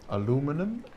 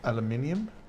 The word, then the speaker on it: aluminium: back on Rose says did you know if you say aluminum the bridge get mad I do it to my BFF all the time aluminum instead of aluminium well in the Netherlands it's called aluminium so aluminum sounds weird to me but what do I